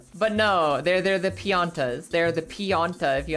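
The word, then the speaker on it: Pianta: As a kid, I always thought they were called piñatas or piñas or whatever. But no, piana right there. They're just the pianas.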